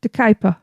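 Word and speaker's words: De Kuyper: I have no idea how to pronounce that. Chris? De Kuiper.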